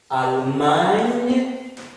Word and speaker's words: Allemagne: one, there's another one where you see GN following one another in the middle of a word. They pronounce as nye. For example, when you are talking about Espanol, that GN pronounces that way. Espanol, Allemagne. So in this case, Espanol means Spanish. Allemagne means German. Means Germany, the country Germany. So GN pronounced as nye.